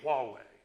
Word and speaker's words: Huawei: to china with a company huawei and i'm actually saying it correctly so it's e i h-u-w-e-i and uh it's a